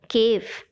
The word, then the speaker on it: cave: with v for example cave c-a-v-e the sound of v is prominent but we add an e which is silent we never say kv